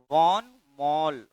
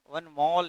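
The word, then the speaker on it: von Mohl: है नाम है उनका वान मॉल वन जो ठीक है वन मॉल नहीं कहना है वन मॉल इसका नाम है हा यहां पे साइलेंट हो जाता है ठीक है ना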